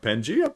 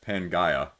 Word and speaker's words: Pangaea: video right i'm like forrest of pangaea panjia panjia panjia and then i realize when i'm editing i'm like oh that's pangaya i mean i'm guaranteed to